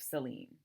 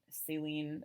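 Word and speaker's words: Céline: reading the works of celine uh saline it's different there's an accent on the e on like celine's his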